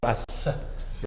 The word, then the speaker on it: wrath: Sí, wrath.